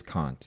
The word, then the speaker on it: Kant: So, I didn't want to get the name wrong there, but it it is Kant, yeah.